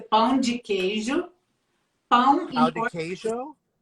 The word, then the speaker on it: pão de queijo: So help me say it correctly. It's a pão de queijo.